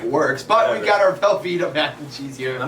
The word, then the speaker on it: Velveeta: Velveeta.